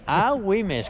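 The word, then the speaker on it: Agüimes: esta vez esta vez wimes a wimes con la u con la diéresis a wimes y un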